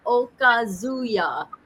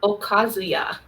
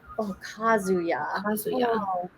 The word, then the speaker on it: Okazuya: Okazuya. Okazuya. Okazuya. So it's the a is the strong portion of it.